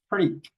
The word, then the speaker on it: freak: We pronounce this like an e. This combination e a like an e. We say freak.